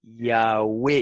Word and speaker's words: Yahweh: Los escritores griegos antiguos testifican de que se pronunciaba antiguamente Yahweh, y lo escribe así en inglés, como se escribe en inglés, Yahweh, Yahweh.